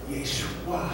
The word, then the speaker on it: Yeshua: Jesus' name in Aramaic is pronounced Yeshua. Are you seeing it? Both Yeshai and Yeshua are derivatives of the name Yeshua.